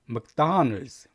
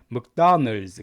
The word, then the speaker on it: McDonald's: McDonald's. 이게 맥보다는 묵에 가까워요. 묵. 그래서 나의 강세가 있습니다. 그래서 McDonald's.